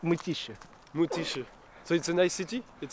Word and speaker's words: Mytishchi: Can you pronounce Mytischensky? It's city nearby Moscow. It's called Mytishchi.